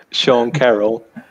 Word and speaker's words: Sean Carroll: Sean Carroll. Sean Carroll, estus, se mi prononcius gin, estus hontiga momento antaŭ la publiko.